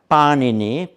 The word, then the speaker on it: Panini: About the time of the Buddha came along the mighty grammarian Panini, not to be confused with the products of Italian bakeries, much as I love panini. Please pronounce him Panini, who was a bit